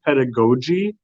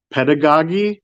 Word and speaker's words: pedagogy: just the other day I learned that it's pronounced pedagogi not pedagogy which is all like I've always seen the